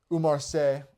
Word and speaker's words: Umar Sy: Umar Sy's game, or Umar Sy, as they were saying on the broadcast, probably how you actually pronounce it, was just to take